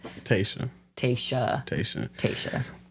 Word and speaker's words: Tayshaw: The W is silent. Tesa.